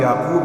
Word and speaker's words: یعقوب: کے ساتھ ادا کریں۔ کسی کا نام یعقوب ہے تو اس کو یعقوب کہیں، یعقوب نہیں۔ کسی کا نام اسحاق